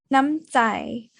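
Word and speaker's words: น้ำใจ: The word Nam here is long when you place it as the second syllable, but it is going to be shortened when you place it as the first syllable.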